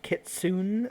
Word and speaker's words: kitsune: years on that and still mispronounce it uh it's pronounced kitsune thank you oh [